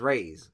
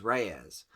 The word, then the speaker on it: Reyes: something like that Reyes I always thought it was Rey's because you don't hear it pronounced when you're reading comic books but it's Reyes so him and Jenny